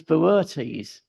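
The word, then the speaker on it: Boötes: but in a different way and that is Beres now the reason it's that pron you that weird pronunciation is because if you notice there's an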